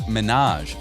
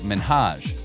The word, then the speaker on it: Minhaj: The problem, though, was that Ellen said it as Minaj instead of Minhaj.